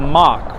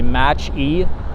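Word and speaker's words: Mach-E: new EV called the mock right I think I would always mispronounce it and say match e but I think it's pronounced mock or something like that and I actually do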